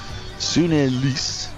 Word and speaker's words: Sune: Sune, we believe, that is the pronunciation, is carded to come in at 3,